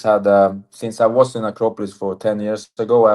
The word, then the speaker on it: Acropolis: And then you moved to Acropolis. Okay, that's really, really bad pronunciation. Acropolis.